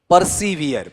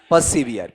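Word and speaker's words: persevere: अरे प्रिजर्व नहीं है, प्रिजर्व नहीं है सर, प्रिजर्व की स्पेलिंग बताओ तो मुझे, तुम बताओ क्या है, PRESERVE, प्रिजर्व का मतलब संरक्षित करना। ये प्रिजर्व है या इसका उच्चारण करो परसिवियर, बोल के बताओ क्या है परसिवियर।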